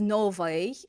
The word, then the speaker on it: новый: So just know when I pronounce something as новый, I'm not lying to you. I'm just pronouncing it more authentically in everyday speech.